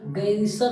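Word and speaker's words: garrison: ध्यान रखिए इसका प्रोनाउंसिएशन जो होता है ना वो गैरिसन होता है, गैरिजन नहीं होता, गैरिसन होता है।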